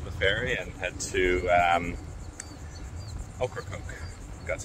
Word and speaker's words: Ocracoke: Just got to the ferry terminal, so just waiting to load the car up onto the ferry and head to Ocracoke. That's how you pronounce it.